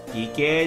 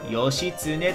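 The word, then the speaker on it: 義経: 義兄ではない、義経と読むのじゃ。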